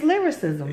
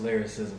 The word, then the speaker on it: Lilrickcism: I first seen his name I could never pronounce it right and it's lyricism yeah I know when y'all see his name